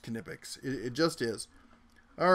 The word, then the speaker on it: Knipex: You know, and it is pronounced Knipex.